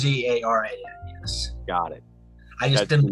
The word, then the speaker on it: Zaharan: Well, it's the Z. The H is basically silent. The Zarn basically it's just it's basically pronounced. It's basically pronounced Zaran.